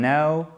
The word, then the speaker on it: know: Avec le cas qui ne se prononce pas, c'est pas know, hein, c'est we don't know.